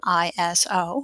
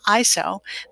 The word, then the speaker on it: ISO: the really old ones you can either say the acronym iso or pronounce it iso both are technically correct and the subject of